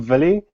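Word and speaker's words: Willem: correct me yesterday so this is the Dutch pronunciation for V villum or something close enough yeah it's Africans but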